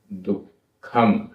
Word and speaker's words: दुःखम: इट्ठ इट्ठ आधा ठ इट्ठ वियोगम वियोगम दुःखम आधा ख दुःखम इट्ठ वियोगम दुःखम।